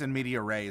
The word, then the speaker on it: in media res: That's why if we start in media res, I think it's in media res is how you're supposed to pronounce it.